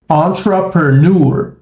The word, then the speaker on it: entrepreneur: nativas da língua inglesa Observe como pronunciar essa palavra corretamente entrepreneur entrepreneur entrepreneur então a gente tem um som neutro que é o som do chá na combinação TR on TR e depois na sequência PR PR PR e aí